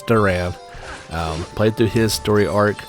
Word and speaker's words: Duran: I assumed it wasn't pronounced like Duran, but it is. It's Duran.